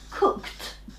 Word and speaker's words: cooked: cook okay yes again it's here cooked you have a T sound at the end okay now we write Edie but you hear cooked okay listen listen to